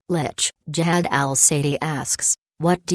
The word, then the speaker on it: Lich: Zekindo asks, Lich or Lick? I used to think it was one way, then found out it was the other. In my head, I still pronounce it wrong due to habit. This was answered by Yashual below this post, but it's still a #Ask Joker. So, Lich.